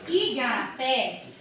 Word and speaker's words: Igarapé: pronunciada como mais intensidade quando nós falamos aqui ó Igarapé a última sílaba é uma sílaba mais forte do que as outras quando isso acontece essa